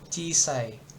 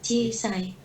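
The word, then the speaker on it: 小さい: Cisai. Nah, Cisai. cisai. Jadi i-nya double. I dari sini satu, kemudian dia ada i lagi di sini.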